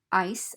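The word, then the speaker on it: eye: at i as in the i on your head that is spelled e y e so the e ey combination can give us the i sound and the letter i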